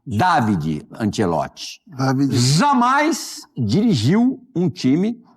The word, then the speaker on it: Davide Ancelotti: Falar direitinho aqui a pronúncia do do nome dele. David Antielote. Antielote. David Antielote.